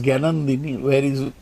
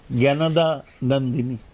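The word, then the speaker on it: Jnanadanandini: Narendra Modi spelled out, pronounced the name of the wife of Rabindranath's elder brother Satyendranath as Gyanandini, whereas it was Gyanada Nandini. Narendra Modi pronounced Rabindranath's famous poem called Prarthana, Chitto Jetha Bhoy Shunno Uchcho Jetha Shir, all wrongly.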